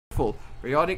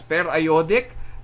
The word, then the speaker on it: periodic: now knowledge noreen p.a.s periodic acid shifts some some of my professors would pronounce it as per iodic but the spelling is almost the same but the periodic is fine with me as long as you